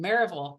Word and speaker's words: Maryville: to see he's from marville Tennessee which is is not spelled like it's it's smelled like Maryville but it's definitely not pronounced that way in the South so um it's nice